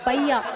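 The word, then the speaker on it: paella: அந்த டிஷ்ஷு பேர் வந்து பையா. அது என்ன பையா அப்படின்னு கேட்காதீங்க, அது இங்கிலீஷில் எழுதும்போது அந்த வார்த்தையில் வந்து ரெண்டு எல் இருக்குது, ஆனால் அந்த எல்லை வந்து உச்சரிக்கூடாதான், அது வந்து சைலண்டாக.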